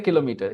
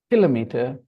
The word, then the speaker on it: kilometer: a stress kilometer kilometer kilometer okay now listen to this one different pronunciations kilometer kilometer kilometer okay the stress is now on the second syllable kilometer kilometer kilometer kilometer